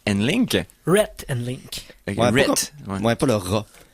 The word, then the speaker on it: Rhett: Et c'était Rat and Link. Rhett and Link.